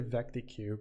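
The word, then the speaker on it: VecDeque: Interesting you pronounce it vectec, by the way. I don't know. I say vectq because it vec double-ended q is the long form.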